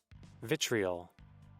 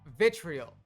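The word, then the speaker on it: vitriol: I'm mispronouncing this. Find a lawyer. What the Vitrial. Vitrial.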